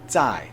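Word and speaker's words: 再: right hand side of your screen which is pronounced Z and it also means again so yo and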